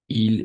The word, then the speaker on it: ils: ils. Oui, très bien, merci. C'est il. Et oui, mais on va prononcer il, tout simplement.